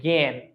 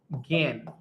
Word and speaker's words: জ্ঞান: এটা দেখো তো, এটা কিন্তু আমরা গান বলছি না, এটাকে আমরা গান বলছি, এটাকে আমরা বলছি জ্ঞান। তার মানে এটার উচ্চারণ অনেকটা এরকম, এটার উচ্চারণ হচ্ছে অনেকটা এইরকম, জ্ঞান, চন্দ্রবিন্দুতে জ্ঞান, এইভাবে।